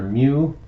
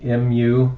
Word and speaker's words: mu: is the Greek letter mu just mu and it's pronounced like the noise a kitten makes anyway um I've got